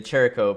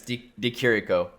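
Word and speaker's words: Di Chirico: uh buckley versus dakirico my bad i was pronouncing it the cheroko before yeah but it's d d kiriko yeah and this is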